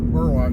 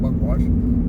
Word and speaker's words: Burwash: just pass the uh burwash burwash not buckwash but bash Landing uh